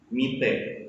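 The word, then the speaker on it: みて: Penggunaan te di sini dibaca cepat, tidak seperti kata yang sebelumnya. Kalau kata sebelumnya tadi memiliki double T yang diucapkan itte, kalau sekarang diucapkan cepat, mite, seperti itu.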